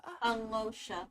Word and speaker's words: Alyosha: Alosha. Alosha who? So the Y is silent.